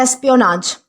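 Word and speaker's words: espionage: अब दोस्तों इसके बाद हमारा अगला वर्ड आता है एस्पियोनाज। दोस्तों इसे एस्पियोनेज भी कहा जाता है, एस्पियोनाज भी कहा जाता है, तो जैसा आप प्रोनाउंस कर सको उस तरीके से।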